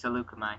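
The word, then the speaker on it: Saleucami: Hey, you Seleucami. pronounced it right. It's Seleucami, yes.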